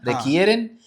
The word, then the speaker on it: requieren: Algunas partes de las canciones son fáciles, pero otras requieren, है ना, requieren, ये quiero वाला, quiero के requieren, pronunciation वैसे ही ना, वही है, ठीक है, requieren más práctica.